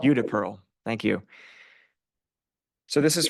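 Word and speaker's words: Judea Pearl: book of why uh by how do you pronounce his name UD Pearl UDA Pearl thank you so this is from I think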